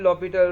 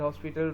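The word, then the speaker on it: l'Hôpital: Rule भी कहते हैं, कुछ इसको एल हॉस्पिटल रूल कहते हैं, लेकिन इसका जो पढ़ने का जिसकी प्रोनाउंसिएशन है वो है एल लॉपिटल रूल।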